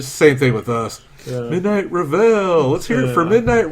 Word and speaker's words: Reveille: I kept saying Reverie. Pretty much everyone that reads the name says Reveille.